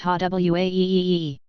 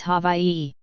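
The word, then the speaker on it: Hawaiʻi: saying I'm wrong because Hawaii isn't pronounced ha wae e. True it isn't. The traditional spelling is Hawaii and pronunciation is hava ei. Basically, the and the h merge. The w and the and the i merge. The w makes a v sound since it's surrounded by vowels.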